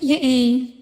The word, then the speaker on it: Yae: Oh yeah, it's pronounced like Ya-eh. Ya-eh or something. Makoto saw a But it's bigger like picture 2 than I did. syllables, not 1.